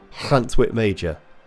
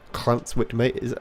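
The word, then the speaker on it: Llantwit Major: To pronounce the Welsh L, push your tongue to the roof of your mouth and push your breath out. Clantwit Major. Clantwit Major.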